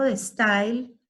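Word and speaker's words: De Stijl: Theo van Disburg, si bien hace parte del movimiento de style, el neoplasticismo tiene varios sinónimos. De style, se escribe S-T-I-J-L, de style, ¿sí?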